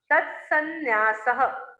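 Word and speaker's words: तन्न्यास: और नाम स्थापना द्रव भाव तत्सन्यास, जैसे उपन्यास बोलते ना अपन, उपन्यास वैसा ही वो है। तत्सन्यास, तत्सन्यास, उपन्यास तन्यास, ऐसे उच्चारण उसका करना है ना।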